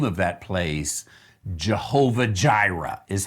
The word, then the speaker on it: Jehovah Jireh: name of that place jehovah jireh is how we pronounce it in english now remember that in english we uh we we use a sound even that j is not a hebrew sound so it is the